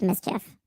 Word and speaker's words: MSCHF: named us the future we call ourselves mischief pronounced mischief footnote one no counsel